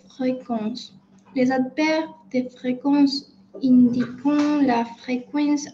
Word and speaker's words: indiquent: Donc, les adverbes de fréquence indiquent, d'accord? Indiquent jusqu'à là la fréquence à laquelle c'est, de la même façon, ENT, on ne prononce jamais, se produisent ou se produisent.